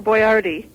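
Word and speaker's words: Boiardi: that's the real Hector boardi he spelled his name b o i a r d i and uh they just decided to spell it as boy r d so people could pronounce it right um but he he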